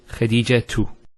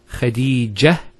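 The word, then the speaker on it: خديجة: And thirdly, if you actually pronounce the last letter with the harakah, so for example, say when say Khadija tu. Notice Khadija tu. We pronounce the ta. If we stop at the ta, Khadija, it's a ha.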